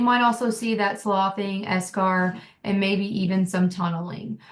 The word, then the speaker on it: eschar: And eschar, or as some people pronounce eschar.